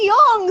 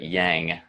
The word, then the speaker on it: yang: are talking about the young side so especially since they pronounce it yang listen to Kristen is